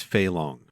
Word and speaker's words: Fei Long: It's Fei Long. Oh, I just got the fucking syllables backwards.